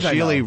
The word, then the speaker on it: Gigli: It's called Geely. How do you spell that?